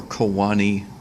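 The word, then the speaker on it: choanae: The proper pronunciation is choana singular or choani plural for these nasal passageways.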